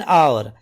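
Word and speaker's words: hour: इसका आंसर है एन आवर। ठीक है, I only have an आवर for lunch. समझ आ गया ये? एन, क्योंकि एच जो है यहां पे साइलेंट रहता है और साउंड निकलती आवर, ओ आवर की, जैसे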